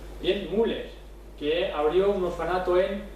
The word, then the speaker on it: Müller: por ejemplo, tenemos a Müller, como se pronuncia en distinta de alemán. Bien, Müller, que abrió un orfanato en Bristol.